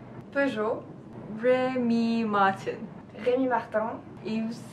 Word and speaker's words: Peugeot: Pugot something. Peugeot.